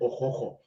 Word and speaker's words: Okukor: But the right pronunciation is actually Okukor.